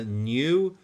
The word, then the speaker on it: New: Now, occhio, in English il U è U, si spinge tipo un Y, allora diventa New Communication, capite?